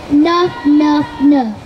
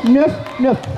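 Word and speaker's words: nöff: Um, they say nofn. That's right. Nof nofnof. And you have to go like this with your with your hand. It's spelled N O with two dots. FF. Nofnof.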